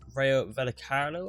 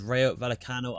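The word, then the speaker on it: Rayo Vallecano: game of this episode is against Rayo velocarlo I think that's how I pronounce it there let me just double check that right there on 10 points I believe that is Rayo vallicano I was right there but you can see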